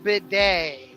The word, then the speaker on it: bidet: Pronounced bidet.